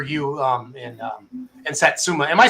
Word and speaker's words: Satsuma: that again for you um and um and Satsuma am I saying that right Satsuma yes you are okay cool because I um I butchered one oh there's a Lebanon Missouri poll